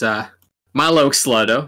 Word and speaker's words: Mylo Xyloto: And speaking of which, this is Mylo Xyloto, and that is how it's pronounced.